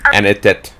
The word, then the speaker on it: Annette: and she's probably famous dude anyway I promise anit anit it anit it that's how you say